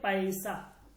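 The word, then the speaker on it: پیسہ: এটা উচ্চারণ হচ্ছে এই পে, এরপর হচ্ছে ইয়া, এরপর হচ্ছে সিন, এরপর হচ্ছে হে, এই চারটা বর্ণ মিলে এটা হচ্ছে পয়সা, পয়সা।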